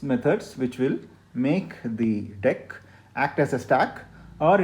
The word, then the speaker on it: deque: dot deck this is called deque it's not dq it is branch pronounced as deck now the funny thing about deck is that